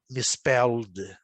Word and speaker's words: misspelled: Eu sempre lembro para vocês que a palavra terminada em ED, você pronuncia misspelled. Você joga o L com o D e consome o E.